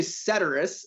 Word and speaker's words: Ceterus: So it's actually Ceterus, and it's Ceterus. You're close, and it's 70% of people pronounce it wrong in some way or another. It's a Latin word, and it stands for the rest or everything else, kind of like etc.